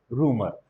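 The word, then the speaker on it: rumour: अफवाह को कई लोग र्यूमर बोलते हैं। र्यूमर is wrong pronunciation, right pronunciation is रूमर।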